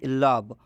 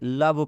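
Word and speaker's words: love: के नन पढ़ेंगे जैसे एल ओ व ई लभ हम इसको लोभ न पढ़ के क्या पढ़ेंगे लव पढ़ेंगे ये जितने सारे वर्ड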